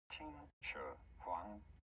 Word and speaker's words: Qin Shi Huang: How do you go about pronouncing this one? Qin Shi Huang.